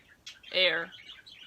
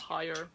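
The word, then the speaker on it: heir: Air. That's how you pronounce it, not higher.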